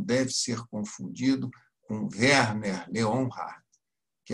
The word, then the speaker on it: Leonhard: Um se escreve sem H, que é o Leonard, e o autor do nosso livro se escreve com H, Leonhard. Eu brinco até que termina com hard, que é duro.